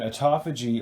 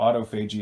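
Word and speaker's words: autophagy: a toffee G and a toffee G or Auto Fuji as I pronounce it is the body's self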